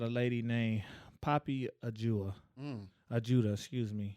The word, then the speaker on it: Ajuda: Ajuda, excuse me. How you spell that?